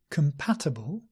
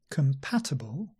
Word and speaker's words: compatible: the mouth uh and this word compatible compatible has come at the beginning not Kong not with a round mouth no Kum schwa relax the lips